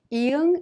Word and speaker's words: 이응: Iung is silent when used as an initial sound, such as in ah and aw. When used as a final consonant, however, it has the ng sound like in the word song.